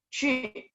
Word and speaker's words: 去: 去, ingat mulutnya bacanya bulat. 去 ya, 去, pergi.